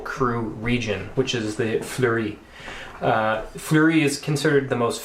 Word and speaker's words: Fleurie: The one that we are having is, and I'll let you pronounce it, Fleurie. Fleurie.